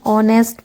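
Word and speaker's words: honest: जैसे स्पेलिंग है ऑनेस्ट मैन। ऑनेस्ट में क्या है? देखो एच व्यंजन है, कंसोनेंट है। फिर भी एन यूज़ हो रहा है क्योंकि उसका साउंड ओ आ रहा है।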